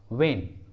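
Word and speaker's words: when: डब्ल्यू के बाद एच आता है तो एच साइलेंट होता है। For example what, what. वेन, वेन।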